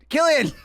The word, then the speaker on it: Cillian: Jay Kelly wrote in our Cillian Murphy clip saying we thought his name was Cillian. You come on my FYP, you pronounce my boy's name right, Killian.